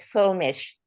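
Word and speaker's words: Fuellmich: And you pronounce it Fielmick.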